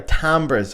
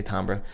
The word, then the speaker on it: timbre: Timbre is not pronounced like that, bruh. Timbre. It's a fucking French word, but timbre will do.